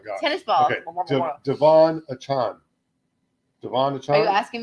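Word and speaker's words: Achane: You mentioned Mostert, but another guy that had 4 touchdowns was, and I'm going to say his name wrong because I'm still hoping it's A-Chain, Devon A-Chain.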